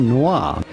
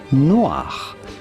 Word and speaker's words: noir: pronounce with the typical French pronunciation the color black in French, the way it would be said in France. So this is Pinot noir, noir, noir, la couleur noire.